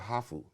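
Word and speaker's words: ハーフ: You are called hafu. Okay, so it's spelled H-A-A-F-U because Japanese can say half.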